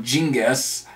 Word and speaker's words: Genghis: You know, just like stuff like me, Genghis Khan, or Genghis, as it's supposed to be actually pronounced, or Another Life, maybe as well, you